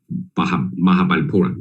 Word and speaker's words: Mahabalipuram: And only after 3 or 4 times of visit, I can maybe still not right, but the pronunciation, at least local people know that what I mean, okay? Mahabalipuram, okay?